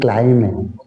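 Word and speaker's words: climb: हैं next word है एथ क्लाइम एक क्लाइम इसमें बी साइलेंट रहता है नेक्स्ट वर्ड है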